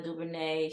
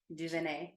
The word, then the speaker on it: DuVernay: and having discussions um I always say her name incorrectly incorrectly Ava Duvernay she's like Duvernay thank you girl she